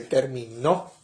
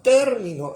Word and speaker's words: término: un propósito término significa pero no doler el acento en la o que terminó sino como un término Es un término y la conclusión en